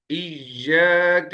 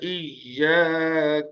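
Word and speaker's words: إِيَّاكَ: अब ये इय्याक, इसमें देखें, हमजा याजेर ई तो है, लेकिन यहाँ ई खींच नहीं रहे। हिज्जे तो वैसे ही होगी जैसे हमजा याजेर ई या मद्दा की होती है, लेकिन पढ़ने का अंदाज वो नहीं है। पढ़ने का अंदाज मुशद्दद का, या मुशद्दद का पढ़ने का अंदाज या मद्दा से अलग होता है।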